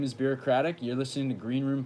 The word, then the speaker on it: Birocratic: so I just need to put on the record that it is in fact pronounced Birocratic, and I will send you my merch that says it's pronounced Birocratic as a as a token of gratitude.